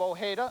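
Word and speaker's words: Ojeda: his season total going into the game bab OA that's the way he likes his name pronounced now lasted six innings for his third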